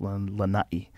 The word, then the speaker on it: Lanai: in the island of lanahi you got to say it right i usually say lanai but it's lanai um they have 3